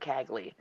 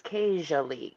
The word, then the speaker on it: cagily: I would have said Cagley, but it's casually, casually.